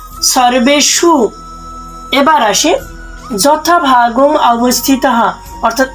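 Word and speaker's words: সর্বেষু: উচ্চারণ করব অয়নেসু সর্বেশু আমরা জানি যে সংস্কৃত উচ্চারণের ক্ষেত্রে দন্তস এর উচ্চারণ ছয় এর মত করতে হয় বাকি সম্পূর্ণ ঠিক আছে আবার কেউ যদি রেপটাকে ভাঙ্গিয়ে লিখতে চায় তবুও কিন্তু হবে তবে মাথায় রাখতে হবে যে মূর্ধন্য এর উচ্চারণ শুদ্ধ স এর মত হবে সর্বেসু এবার আসি যথাভাগ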